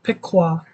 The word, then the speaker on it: Piqua: the good news of Piqua Piqua okay it's pronounced Piqua okay Piqua Piqua all right Piqua all right Piqua all